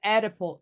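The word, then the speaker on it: Oedipal: C, between Adipal, and the O is silent, so it's the Adipal complex.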